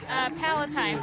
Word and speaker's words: Palatine: And how do you pronounce the name of your town? Palatine.